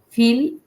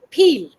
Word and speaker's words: feel: Feel. Yes, but when we were saying it, then we were saying peel.